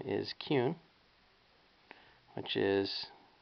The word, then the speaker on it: Kuhn: And my last name is Kuhn, which is, it's pronounced Kuhn, but it's spelled K-U-H-N.